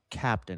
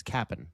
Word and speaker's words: Cap'n: It's not Captain. It's Cap'n. It's always Cap'n. There's no T in there.